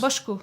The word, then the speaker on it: Bochco: Alors, c'est Bochco que ça se prononce. Bochco.